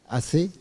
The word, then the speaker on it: Aceh: Alors, on pense, concernant l'Indonésie, on pense à Aceh, comment on prononce, c'est ça, hein? Aceh.